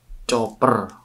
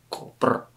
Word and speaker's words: copper: Bukan copper sweet case, tapi ini chopper. Bacanya copper. Cooper.